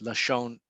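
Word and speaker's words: לשון: so lame shin nun spells lashon without the volve we don't need the v in hebrew we can pronounce lashon you know just with the the the dot uh on top so lashon is tongue or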